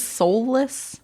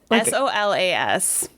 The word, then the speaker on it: Solas: you say his name was Soulless? Solus. Yeah. Wait, Soul, like Solas.